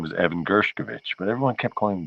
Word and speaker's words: Gershkovich: say his name because a lot of people were saying gershovich and as I'm explained last year I don't like that I don't think that's right I think it's gershkovich because one of his